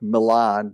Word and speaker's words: Milan: It's spelled like Milan, but it's Americanized in its pronunciation.